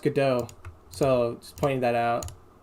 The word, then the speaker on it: Godot: Also, I'm pretty sure it's pronounced Godot.